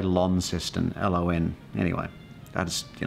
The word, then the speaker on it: Launceston: so it's it's pretty it's spelt lawn like laundry but you say Launceston ello in anyway that's